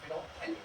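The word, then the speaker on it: phenolphthalein: फिनोप्थलीन लिखते हैं, फिनो ऐसे पढ़ते तो लिखते तो एल भी है, साइलेंट है, फिनोप्थलीन ऐसे याद रखिएगा, एक्चुअली याद है बच्चे से नहीं लगेगा, ठीक है।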